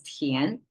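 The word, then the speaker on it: 田: Chinese tian, pronounced as tian, because Chinese is agrarian society, so land zoning,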